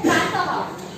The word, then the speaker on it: प्रातः: उसके बाद आता है प्रातः। उच्चारण क्या करते हैं हम? यहाँ पर त के बाद 2 मात्राएं दी है, प्रातः, ह का उच्चारण आता है, बराबर है।